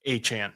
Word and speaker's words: Etienne: So Travis Achane, which is Travis Etienne. To people who haven't seen that, Travis Etienne said his last name is pronounced Achane.